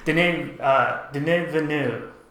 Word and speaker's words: Denis Villeneuve: adaptation, directed by, I'm going to get the name wrong, but let's see, Denis Villeneuve, I'll write it here somewhere. Denis Villeneuve, I think is how you say it.